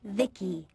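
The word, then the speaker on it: VICI: to by the way I'm v-i-c-i pronounced Vicky my Creator was Bibi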